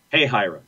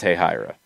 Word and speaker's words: Hahira: Soccer for Good OG wants us to pronounce Hahira? Hey, Hira.